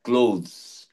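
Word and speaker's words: clothes: এই ক্লথস মানে ক্লোথস উচ্চারণটা হবে ক্লোথস উইশুড প্রোনাউন্স ইট এস ক্লোজ এর মানে লেখো পোশাক পরিচ্ছদ পোশাক পরিচ্ছদ ক্লোজ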